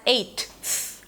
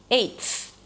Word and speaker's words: eighth: You don't have to pronounce it as eighth, right? We don't want to have that break. It's one sound, eighth.